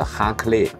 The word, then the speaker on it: Raclette: 語裡邊讀音其實是 Raclette，它是這個動詞，就